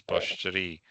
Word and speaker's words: Portree: Okay, that would be the Gaelic pronunciation. Right, I made both yellow. Portree versus Poshri. Gaelic being the right-hand side.